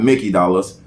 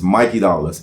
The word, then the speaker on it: Mikey Dollaz: spelling my name wrong it's not Mickey dollars it's Mikey dollars m-i-k-e-y-d-o-l-l-a-z what about Twitter uh